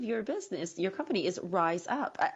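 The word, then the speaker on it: Rize Up: Actually, the name of your business, your company is Rise Up. I love the way it's spelled, by the way. So it's R-I-Z-E, right? Yes, that's correct. Rise up. And that's awesome because you're elevating yourself.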